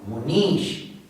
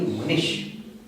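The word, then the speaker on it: Munīśa: Once again, Munish. It can never be Munish. And should be pronounced. And that is why, right from day one, I have been telling you to differentiate between E and E. U and U. This is the example where it is very easy to make a mistake if you don't know the difference.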